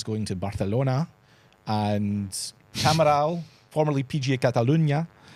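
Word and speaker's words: Camiral: After that 2031 it's going to Barcelona and Camaral formerly PG Catalunia. Good pronunciation.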